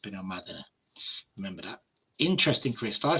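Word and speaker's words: Benalmádena: It's actually Benomadina because there's an accent on the A. Most Brits call it Benomadina, but it's Benomadina.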